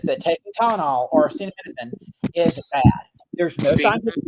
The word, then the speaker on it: acetaminophen: Acetaminophen is easy to pronounce. The ending is like minophen and acetaminophen. Acetaminophen.